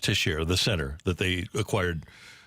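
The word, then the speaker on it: Texier: before the opener but they got tisher I guess it's pronounced tisher the center that they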